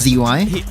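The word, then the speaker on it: Szy: pronunciations jotted down to I listened in now and it's SZ y It's s zy it's SZ y he's called zy okay we're good good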